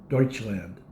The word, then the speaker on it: Deutschland: Germany itself it's called the actually pronunciation of the country itself is Deutschland Deutch de with a de so that's why it has the de there um one thing